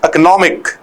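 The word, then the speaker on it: economic: और इसका अगर देखा जाए तो स्ट्रेस आता है एक पर, तो इट बिकम्स इकोनॉमिक। इसे एक भी नहीं बोला जाता है। अगर करेक्ट एग्जैक्ट प्रोनाउंसिएशन देखेंगे इट इज इकोनॉमिक, है ना, लेकिन हम इकोनॉमिक से हमारा काम चल जाएगा।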